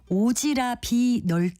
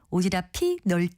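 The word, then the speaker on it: 오지랖이: 보통 오지랍이 다라고 표현하는데요 그런데 이것을 오지라 비 다로 발음하는 분들이 상당히 많습니다 마지막 음절에 받침이 피니까 오지랍이 널다가 아니라 제가 말한 대로 오지랍이 다로 하는 것이 맞습니다 오지랖은 원래 오도이 윗도리에 입는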